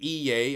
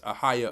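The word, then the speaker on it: Ahayah: Yeah, they pronounce it Iye or whatever. Iye, Asher, Iye, but it's Ahaya, Asher, Ahaya.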